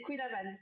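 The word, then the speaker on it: Kouign-amann: Je l'ai bien prononcé cette fois? Si, c'est Queen Amman.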